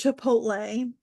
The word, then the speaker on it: Chipotle: Because it's Chipotle.